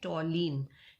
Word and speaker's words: toluene: लिखते हैं हम इसको TOLUENE और पढ़ते हैं टॉलीन, ठीक है। यू साइलेंट हो जाता है।